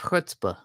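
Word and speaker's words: chutzpah: do um and I would agree you have hutzpah which is not spelled h o o DPA I just want it's it's spelled like chut Spa chuta yeah it's c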